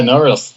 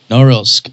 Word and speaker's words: Norilsk: Is that how you pronounce the name? Yeah, Norilsk. That's correct. Norilsk.